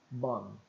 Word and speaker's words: bomb: descobre com a fonética que o som do M ele fecha os lábios não dá tempo abrir para pronunciar o b então fica mudo bam bam frustrante Eu sei eu